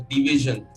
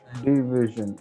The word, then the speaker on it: DVZN: DVZN is actually pronounced as division, short, not division. Divide. I mean, divided. It's like that. So, yeah. It's like a division. But in division, it's like if you split the D and the vision, it's like a division.